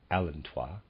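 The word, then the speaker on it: allantois: the unborn readers aside i'm pronouncing a-l-l-a-n-t-o-i-s as alantois and readers aside but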